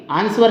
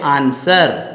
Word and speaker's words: answer: हाँ ये बात पकड़ में आई ना, गलती, आंसवर नहीं कहते मेरे दोस्तों, इसको बोलते हैं आंसर।